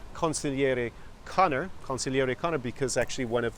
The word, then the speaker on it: consigliere: well first of all it rhymes with my name consigliere Conor and it describes accurately